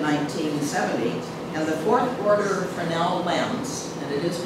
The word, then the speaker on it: Fresnel: Now, Point Montara's beacon was automated in 1970, and the fourth order Fresnel lens, and it is pronounced Fresnel, the lens was built by a French physicist.